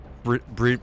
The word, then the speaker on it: brazier: Yes, so brazier, Fissure? Brazier. fire pit, Brazier Okay, rhymes with Frazier.